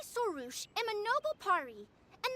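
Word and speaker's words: Xilonen: And we learn how to pronounce her name. It's Sarouche. So I was saying Sarash all this time.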